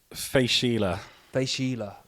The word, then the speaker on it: Fèis Ìle: always struggle on this Fila Fila nice you're always good on think like like Sheila's Wheels good old good old